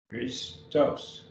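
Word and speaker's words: Χριστός: Notice we have Christos. Christos. 2 syllables. Genoske. 3 syllables.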